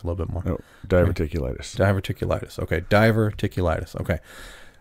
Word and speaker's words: diverticulitis: No, diverticulitis.